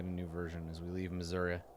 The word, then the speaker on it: Missouri: I get a new version as we leave Missouri Missouri sorry I gotta pronounce it correctly uh-huh we have been in